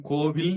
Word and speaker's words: கோவில்: ரெண்டும் சரிதான் கொண்டு வந்துட்டாங்க இந்த மாதிரி கோவில் சரியா கோயில் சரியா இலக்கியங்கள் எல்லாம் கோயில் தான் இருக்கு ஆனா நன்னூல்ல கோவிலும் சரிதான்னு இலக்கணம் எழுதி வச்சிருக்காங்க அப்போ ரெண்டையும் சரியா கொண்டு